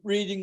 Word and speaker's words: Reading: he's just reading, and he gets Reading, the town, for reading. So he pronounces it reading rather than Reading.